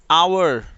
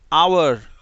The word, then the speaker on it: hour: जिनमें एच अगर स्टार्टिंग में हो तो वो साइलेंट होता है, उसे पढ़ा नहीं जाता। For example, HONEST, honest, honest, HOUR, आवर, आवर, okay.